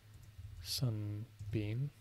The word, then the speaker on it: 順便: Actually, I want to make sure I'm pronouncing that one correctly. So let's double check that. This is not French. Cantonese. Sun bean.